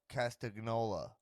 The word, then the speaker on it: Castagnoli: castigliano i'm gonna go i'm gonna go claudio castignoli claudio castagnoli it's claudio castagnola no love no lee the announcers were messing